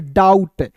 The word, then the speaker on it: doubt: DOUBT, तो डाउट पढ़ रहे हो क्या, नहीं दोस्तों इसे पढ़ेंगे डाउट। देखिए यहाँ पे DOUBT, तो इसे क्या पढ़ेंगे दोस्तों डाउट, बी साइलेंट होगा।